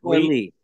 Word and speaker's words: Leigh: Is that how you pronounce it? Leigh.